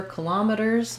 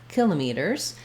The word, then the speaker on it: kilometers: Do you prefer kilometers or kilometers? They're used equally. I think both are correct.